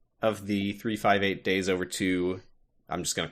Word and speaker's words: 358/2 Days: Do you like that this video game is spelled 358 over 2 days, but it's pronounced 358 days over 2?